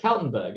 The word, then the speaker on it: Kaltenburg: You pronounce. Oh yeah, it's Kaltenburg.